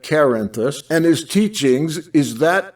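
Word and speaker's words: Cerinthus: the best description of cyrenthus or i pronounce that karenthus and his teachings is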